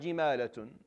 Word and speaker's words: جمالة: So for our qira'ah, it's jimalatun.